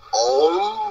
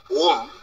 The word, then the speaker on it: ওম: সুতরাং অম বা ওম এই দুটো উচ্চারণের যদি হয়, দুটি উচ্চারণই সঠিক, এর মধ্যে কোনো বিশেষ পার্থক্য নেই, এই দুটি উচ্চারণই সঠিক।